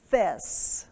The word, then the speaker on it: Fez: you know but and it's mostly pronounced there as fest with an S all right so we're